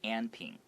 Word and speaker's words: Anping: So Anping is like a very Taiwanese way to pronounce this word. If I was reading it as an American, I would probably say Anping.